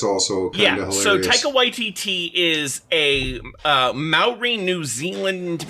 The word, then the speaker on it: Taika Waititi: I could be pronouncing it wrong. Taika Waititi. Yeah, he was involved with The Mandalorian and with the vampire thing. That's also kind of hilarious. So Taika Waititi is a Maori New Zealand man who has